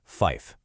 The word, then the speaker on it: fife: This one is pronounced fife. And I know that might seem a little strange, but think about it for a second.